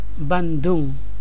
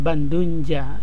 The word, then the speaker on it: Bandung: Jadi tetap kita baca dengan Bandung, bukan Bandunja. Bandunja itu berarti artinya nanti apa ya?